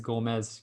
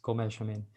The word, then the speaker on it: Gomes: they the correct pronunciations the gomez one was fairness it was actually that's what they say in european portuguese gomez gomez but um like i